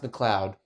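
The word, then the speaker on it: MacLeod: It's pronounced McLeod.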